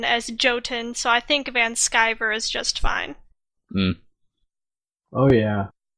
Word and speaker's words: Vanschiver: name first things first van skyver but everybody says van shiver so either works that's guy okay because you take the german name and you pronounce it like you're an american so everybody's gonna go with the german pronunciation not the random american pronunciation well i'm american so